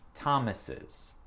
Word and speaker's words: Thomas's: Mais si le mot termine avec un S, comme Josh Thomas, ouais, c'est difficile à prononcer. C'est Josh Thomas's. Le is à la fin, c'est comme le mot is, c'est et.